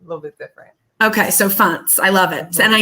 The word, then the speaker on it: Fontes: I think it's Fontes. Am I saying it right? Yeah, you got it right. I got it right. Everybody says Fontes, right?